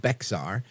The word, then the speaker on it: Bexar: Bexar County, it's spelled Bexar. So I guess everybody else in America that's not from Texas will probably say Bexar County, but it's Bexar County.